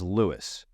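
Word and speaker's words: Lewes: what's up there and lose it's not lose it's Lewis make sure you're saying it correctly that way you don't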